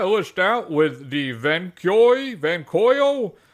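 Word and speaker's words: Vankyo: would close my list out with the van van coyo it's spelled v n k yo performance v630 projector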